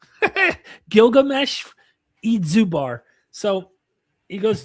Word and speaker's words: Gilgamesh: They did not know how his name should be pronounced or spelled. And at one point, his name when you go back into the 19th century scholars, it's Eid Zudbar.